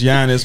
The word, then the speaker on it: Giannis: it's it's weird because it's giannis but it's a g it's silent yeah yeah so yeah